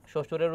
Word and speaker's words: শ্বশুর: বিশ্বাস 2 বার, পক্ষ ক 2 বার হবে, কিন্তু এই শ্বশুর, শ্বশুরের উচ্চারণটা দেখো এখানে কি হবে? শ্বশুর, অর্থাৎ এখানে দ্বিতীয় উচ্চারণ হচ্ছে না, সেক্ষেত্রে সঠিক উত্তর হচ্ছে ঘ।